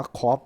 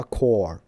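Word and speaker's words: Corps: ว่า 4 แต่ ว่า มัน ไม่ ได้ อ่าน ว่า ครอป นะ ครับ มา ว่า โค เฉย ๆ นะ ครับ คือ มัน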